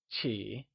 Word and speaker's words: 起: Before moving on, recall that in Mandarin, Q is pronounced with a ch sound. Qi is pronounced using the falling, rising tone. Let's try and say it again.